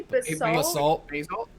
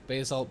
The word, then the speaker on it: basalt: blue what's the pronunciation i always pronounce that wrong basically i say basil yeah basalt blue uh regal red um then